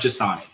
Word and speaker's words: Jan: you're this close um it's pronounced Jan Jan thank you so much